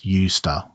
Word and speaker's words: used to: The 2 T sounds merge, so it really comes out as a single unit, used to. And notice that the habit structure and the familiarity structure sound absolutely identical.